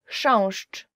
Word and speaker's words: Chrząszcz: Chrząszcz, beetle.